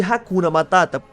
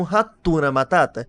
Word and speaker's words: hakuna matata: primeiro filme que é a pronúncia de haKuna matata hakuna matata porque na animação na dublagem brasileira eles falam ratuna Matata isso é porque eles